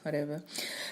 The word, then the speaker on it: jojoba: you know but it's apparently it's pronounced over so now it contains